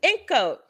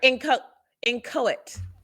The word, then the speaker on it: inchoate: Oh, this one is ink coat. What? Ink coat. I'm going to double check the spelling one for a second, or the pronunciation, because I looked up the pronunciation to be sure. Sorry, inchoate. The word is inchoate.